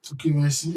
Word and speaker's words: Okemesi: Okay, so instead of the your ethnic nation going straight, can you pronounce it for me? Okay, Mechi? Okemesi Ekiti.